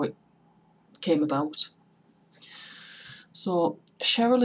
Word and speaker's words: Cheryl: So, Cheryl is pronounced SH but spelled with a C.